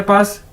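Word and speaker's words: 八: बाद है जी हमारे पास नेक्स्ट वर्ड नेक्स्ट अदद पा बी ए पा चाइनीज में बी को कैसे प्रोनाउंस करते हैं पी के तौर पर पे के तौर पर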